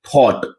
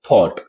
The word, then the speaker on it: thought: अगर यहां हम लोग बात करें थॉट। टी एच ओ यू जी एच टी। इसे हम लोग क्या पढ़ते हैं? थॉट।